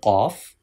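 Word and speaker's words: قاف: And there are two qaf. This is qaf. This letter has thick sound.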